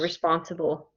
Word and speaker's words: responsible: this one responsible okay look at this pronunciation right here do you see right after the word in this bracket it says spawn bull okay the the dark letters are on the spawn which is the second syllable responsible so what